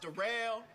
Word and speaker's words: Darrell: It's spelled like Daryl, but it's pronounced Darrell.